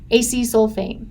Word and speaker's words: acesulfame: But we've also added 2 things, sucralose and acesulfame.